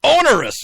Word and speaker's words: onerous: has this on Ro how do you say it onerous onerous you got to put the r in there onerous uh burden on